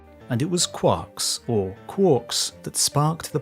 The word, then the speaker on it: quark: to these subh hadronic fragments as quarks rhyming with pork but he never considered